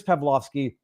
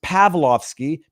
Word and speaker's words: Pavlovski: on over on Twitter what is pavlovski it is Chris pavlovski pav L vski Chris on Rumble uh not to be confused with pavloski arur pavloski pronounced the same way but arur spells his